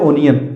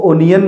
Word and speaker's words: onion: भी बोल देते हैं ओनियन क्या बोलते हैं ओनियन अब ये ओनियन सरासर गलत है और ये क्या है सारा सर गलत है भाई और नियम को अनियन नहीं पढ़ते और नियम को अनियन पढ़ते हैं क्या पढ़ते हैं अनियन और बोलते भी हम अनियन ही हैं ठीक है इसको अब